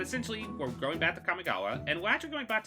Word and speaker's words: Kamigawa: releases first of all kamikya okay wow that was a mispronunciation kamigawa neon dynasty now this